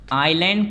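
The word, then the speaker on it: island: इट is also known as द आइलैंड continent. देखिए इजलैंड लिखा है, पढ़ते हैं आइलैंड है, एस साइलेंट होता है।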